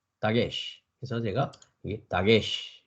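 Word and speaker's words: דגש: 그래서 다게시라는 말은 히브리어로 여러분들이 보면 달렛에 뭐가 있습니까? 이제 연습상 카메츠가 있죠. 그러니까 따, 그죠? 그다음에 기멜 밑에 뭐가 있습니까? 젤에 에 발음이 있죠. 그러니까 기역의 에 발음이니까 게, 그죠? 그다음에 시 발음입니다. 그죠? 그래서 다게시, 다게시.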